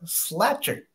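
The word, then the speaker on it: Slajchert: So, number 125 on the big board is Clark Slatcher. That's how you say it.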